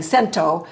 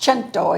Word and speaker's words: Cento: three different people because I was saying Cento and they said no no it's pronounced chento and so I appreciate